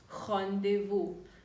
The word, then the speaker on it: rendezvous: english that is birthed from french is rendezvous hondevo now hondevo is like a meeting and it